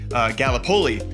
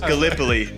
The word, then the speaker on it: Gallipoli: the game right, because being from Iowa, I said Gallipoli, and it is pronounced Gallipoli.